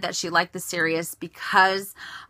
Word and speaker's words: Sirius: Well, I have a Keepall 55, and I have had, I think it's pronounced Sirius. I know it's like Sirius Radio.